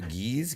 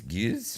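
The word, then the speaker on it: Gueuze: What is, I don't know how to pronounce this word. G-E-U, geese? Goose?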